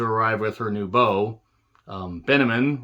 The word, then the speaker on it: Benjamin: Benjamin rhymes with cinnamon, was a funny line.